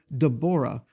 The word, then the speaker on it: Devorah: I'm referring to what we would typically call the judgeship of Deborah or Devorah for those that have an Eastern pronunciation.